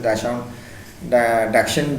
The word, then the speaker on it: Dachshund: So we are at this at this story that Tricky was a Dachshund, it's actually pronounced as Dachshund dog who had been pampered to a such extent that overfeeding, luxuries, facilities had become the cause of his illness.